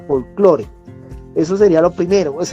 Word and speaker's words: folclore: maneja así es decir leyendo la del castellano no con la pronunciación del inglés cierto folklore como sería en este caso sino su lectura en lengua castellana folclore eso sería lo primero